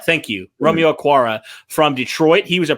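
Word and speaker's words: Okwara: arc i think he's how you say it a quara thank you romeo akwara from detroit he was a pro bowl type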